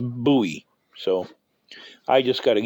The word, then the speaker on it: Bowie: same spacers tailor two knives completely different bowies buoy actually that's the way it's supposed to be pronounced just in case you're wondering I ran